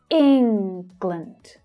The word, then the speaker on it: England: It's England, not England. Okay, so focus on that short I sound. England. Notice how the second syllable reduces to the schwa.